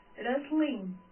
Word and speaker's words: wrestling: Next, wrestling. Next is wrestling. You will not read this.